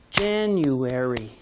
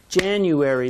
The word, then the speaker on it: January: you read this one you read january january there's a stressed syllable on jan say it with me january good february has the